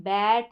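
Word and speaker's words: bet: pronounce नहीं कर रहे हम बैट नहीं बोल रहे बेट बोल रहे हैं तो ई का शॉर्ट साउंड है बेट हम ग्रैब नहीं बोल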